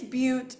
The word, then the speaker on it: Bute: say your last name it's but it's just like cute with a be amazing we got it